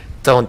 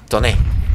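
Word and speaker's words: Tone: Ton, titán, listo. Ton. Toné. Toné suena muy mal. Así que ton. Así que no lo vayan a pronunciar en español porque sería la peste, ¿eh?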